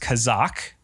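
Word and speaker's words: חָזַק: becoming hard, you'll see in the article it's pronounced kazak.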